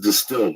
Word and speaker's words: DSTLD: or look t able dstld pronounced distilled offers luxury gray denim